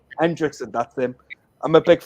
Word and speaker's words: Henriksen: How do you pronounce his last name? Henriksen. Hendrickson, that's him.